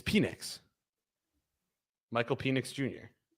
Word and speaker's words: Penix: do you say let's let's do uh it's penix Michael penix Jr how how many oh there's